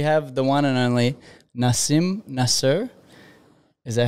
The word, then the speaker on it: Nasim Nasr: welcome so we have the one and only Nasim Nasser is that how it's pronounce it yes correct and you are an